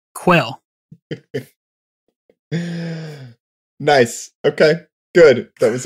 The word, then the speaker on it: Quayle: today did i say quail it's pronounced like the bird quail nice okay good that